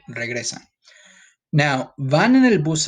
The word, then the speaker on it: regresan: In this sentence, it's regresan. Try to roll your R a little bit. Just try your best, okay?